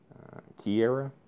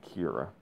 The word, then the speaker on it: Kiera: Kiera, that was how you pronounce it. Okay, thank you. Um, but yeah, I don't know why I was pronouncing it. I think I was pronouncing it Kira instead of Kiera.